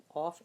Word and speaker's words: ق: Qaf is harf mufakham, so we have to make sure we do it with a strong, when we pronounce it, we say Qaf.